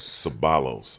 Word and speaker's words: Ceballos: Ceballos. Ceballos. I pronounce it that way because Pops was Hawaiian.